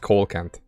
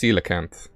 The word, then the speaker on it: coelacanth: it's a relic uh is it a coelacanth isn't it how you pronounce the fish or is it just coal cant so i'm pretty sure it's coelacanth but i don't embarrass myself